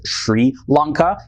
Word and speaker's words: Sri Lanka: Island also the name Sri Lanka is sometimes pronounced as Shri Lanka and this was just because of a preference of a former prime minister in the pronunciation of